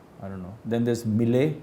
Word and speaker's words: Millet: don't know then there's M Millet yeah that's pronounced as M it's a French brand um so these are